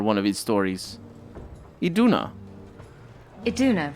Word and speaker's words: Iduna: Iduna, right? Ah, I got pronunciation Do you right.